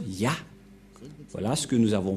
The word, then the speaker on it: Yah: Cette forme se prononce Yah.